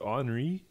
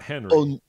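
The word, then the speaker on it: Henri: name of the tropical is it anri it's not henry tropical so it's got a it's got a kind of a european flavor to it i guess i don't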